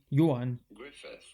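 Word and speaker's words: Ioan Gruffudd: Welsh actor whose name's, well, doesn't read like it's spelled at all. But it's pretty straightforward. Do you see it? Johan, that's his first name, Johan Griffith. Johan Griffith.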